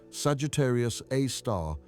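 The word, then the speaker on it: Sagittarius A*: They named it Sagittarius A star pronounced Sagittarius A star after the constellation where it resides.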